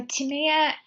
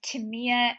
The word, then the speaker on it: Tamia: sex trafficked yeah so to Mia um I think her name is pronounced well I know her name is pronounced Tamia Maggie I always pronounced it to Mia for the longest time and then I met